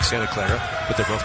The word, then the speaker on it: Clara: spelled c l a r a, like Santa Clara, but they're both pronounced Clara.